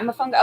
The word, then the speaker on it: Mofongo: um I think that's what like oh yeah Mofongo okay so that is what it is like